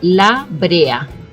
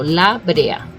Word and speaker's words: La Brea: the library right so the correct pronunciation because you need to remember there's an a at the end of that word it should be La Brea 's pitch in Spanish right so La Brea right nobody nobody here really